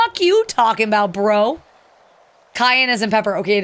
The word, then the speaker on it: Cayenne: Is it the Cayenne? Cheyenne Cayenne. I always say, Cheyenne, whatever. I always say it wrong.